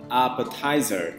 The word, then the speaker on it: appetizer: Trong âm đầu tiên chúng sẽ đọc cao lên là appetizer.